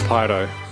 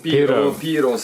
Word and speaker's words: Piro: Is it Piro or Pyro? How do you pronounce it? I was trying to do this to camera earlier. Piro, in Italian Piro.